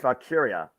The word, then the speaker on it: Valkyria: It's not even Valkyrie. It's Valkyria.